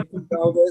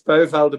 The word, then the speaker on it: Puyvelde: Puyvelde. Did I mispronounce the surname? If I did, I'm so No, it's sorry. okay. I Some don't say know. Puyvelde, some say it's Puyvelde, but it's okay, no problem.